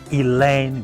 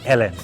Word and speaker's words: Elaine: pronounce her names correctly Elaine brel don't make a mistake don't say Ellen no it's elain britel half first name was elain the surname britel so that is how